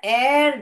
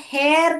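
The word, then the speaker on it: heir: yield sun एंड द एर जहांगीर इसको हेर करके नहीं पढ़ते बेटा एर करके पढ़ते हैं जो हेच है साइलेंट है हेर यानी एर यानी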